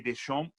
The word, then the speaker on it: Deschamps: gabs pronunciation of Didier Deschamps good enough together no you don't say the P you don't say the S at the end you said the P